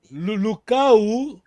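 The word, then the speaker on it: Lukau: Lucau, isoladamente, não há acento, está bem?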